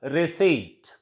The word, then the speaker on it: receipt: And P is silent in some words before T, for example, receipt. Next is silent T.